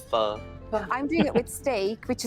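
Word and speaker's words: phở: Pronouncing it wrong. So not pho, it's pho.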